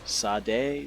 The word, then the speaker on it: Sade: how it can be spelled one way and pronounced another like that one female singer from the late late 90s early 2000s shot a really her name is spelled seine si de Sade Sade how do you get Shah